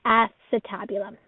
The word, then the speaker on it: acetabulum: Most students want to pronounce this acetabulum, but again, it's acetabulum.